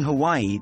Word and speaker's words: Hawaii: pronounce Hawaii in the Hawaiian language you need to break it down into syllables with each vowel pronounced separately so we have Hawaii